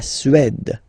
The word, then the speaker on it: Suède: La Suède, d, la Suède, Suède. Remember, accent grave, it's really open. Suède, Suède.